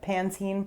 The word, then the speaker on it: Pantene: if i was saying pantene pro-v it's a bit of a mouthful i think it's how we say it pantene pro-v personally i can't believe